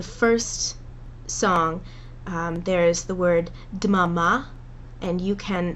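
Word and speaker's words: דממה: It's supposed to be dmama.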